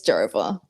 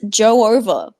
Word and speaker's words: Jova: It's Jova. Yeah. It's Dojo over. It's so All Jonas Silver. I am shocked whenever I hear that people pronounce it Joe over. It's Jova.